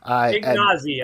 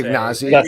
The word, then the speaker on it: Ignazi: Ignazi, I would say. Ignazi. Okay, probably better. Ignazi.